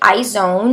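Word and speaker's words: IZ*ONE: is going to be eyes own that's how you say it in English I think they pronounce it a little bit differently it probably makes more sense when you pronounce it with an accent I'm gonna say I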